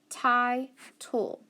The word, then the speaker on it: title: I've got an I, but remember that final syllable doesn't matter. It's like it's not even there. So it doesn't have anything behind it, so it's going to be long. So I, title, title.